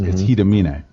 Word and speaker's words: Hiramine: When you look at it, it says Hiramine, but because it's Japanese, it's Hidamine.